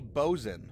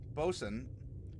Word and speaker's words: boatswain: begin tonight's session by making the bozon it is I mean it is spelled out boatswain and if you're wondering well so Bolton bosun I mean it's so it's a it is a I guess a corruption of the word and you say well